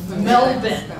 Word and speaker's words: Melbourne: correctly and that's because that's the way they pronounce it It's Melvin so our first this was when we went